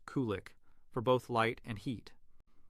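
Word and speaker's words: qulliq: The Inuit traditionally use seal oil lamps, called kulik, pronounced kulik, for both light and heat.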